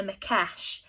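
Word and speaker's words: Maquech: If you're interested in what it is that I'm talking about in the story here, Google a Makesh. It is spelt Maqueech, a Makesh.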